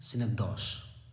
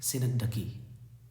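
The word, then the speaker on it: synecdoche: बहुत सारे इसे टीचर भी पढ़ते हैं सिनकडॉश, ध्यान रखना। ये इसका प्रोनाउंसिएशन है सिनकडकी, यही प्रोनाउंसिएशन करेक्ट है, ये सिनेकडॉश नहीं है, ध्यान रखना है।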